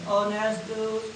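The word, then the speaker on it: honest: नेस्ट नस नेस्ट ए ओ इसको नेस्ट नहीं बोलना है एक साइलेंट है ऑनेस्ट ऑनेस्ट nurse N यू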